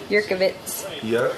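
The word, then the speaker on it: Jurkowicz: But my last name starts with a silent J. So. Jerkowicz. Yurkovitz.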